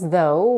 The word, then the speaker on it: though: they're spelled to pronounce though we start with the voice th sound where we put the tip of the tongue between the teeth make sure that your